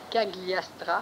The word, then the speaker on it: Cagliostro: Qui est Cagliastra, ça se prononce comme ça, et oui.